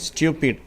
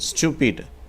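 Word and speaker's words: stupid: ஆங்கிலேயர்கள், இங்கிலாந்துக்காரர்கள் அதை ஸ்டியூபிட் என்று உச்சரிக்கிறார்கள். அமெரிக்கர்கள் ஸ்டூபிட் என்று உச்சரிக்கிறார்கள். 538வது வார்த்தை ஆன்சர்.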